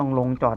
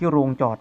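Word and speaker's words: โรงจอด: นะ ฮะ เอโค ต้อง โลง จอด นะ ครับ ลักษณะ นี้ เอ โลง จอด ที่ โรง จอด นะ ฮะ อื้อหือ ต้อง ออก เสียง ให้ ถูก ด้วย นะ ฮะ ไม่ งั้น สับสน นะ โอเค ซ่อม แสม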